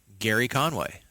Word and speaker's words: Gerry: DC characters firestorm yeah and I know it's a G but I believe it's Gerry Conway so I'm gonna you